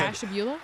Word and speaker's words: Ashtabula: Sharon in Ashtabula. Debbie in Homeworth. Barbara in Akron. Wait, how do you say that Yeah. one city that starts with an Oh, A? what? You said- Ashtabula?